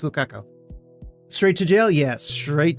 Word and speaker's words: Lukako: uhoh oh no also did he say Lukaku how do he pronounce the name cuz I I do prefer to pronounce them as best as I can l oh it is L lukako okay so it's lukako straight to jail yeah